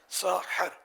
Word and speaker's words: سحری: یہ جو سحری کسے کہتے ہیں، اور یہ لفظ جو ہے یہ سحری ہے یا سحری ہے؟ اصل اس کا تلفظ کیا ہے؟ عربی کے مشہور لغت القاموس میں ہے کہ ساحر اس کھانے کو کہتے ہیں جو صبح کے وقت کھایا جائے. ساحر، ہا پر زبر.